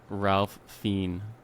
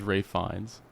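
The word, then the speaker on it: Ralph Fiennes: No, you said you you would say Ralph Fiend, but his real name is Rafe Fines.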